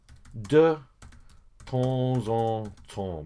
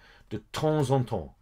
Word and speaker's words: de temps en temps: Now notice the pronunciation. Okay, some of you find that quite difficult. This one, de temps en temps. Okay, that's what you need to say.